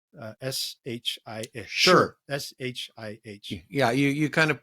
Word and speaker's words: Shih: And I'm going to get the name wrong, and my pronunciation is probably going to be wrong. Shih. S-H-I-H. Sure.